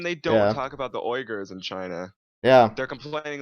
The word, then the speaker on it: Uyghur: But then they don't talk about the Uyghurs in China. Yeah. They're complaining that Trump's taxing China, but they don't talk about the Muslim Holocaust in China. The Uyghurs. It's pronounced Uyghurs. Yeah. Sorry, Uyghur. Uyghur Muslim.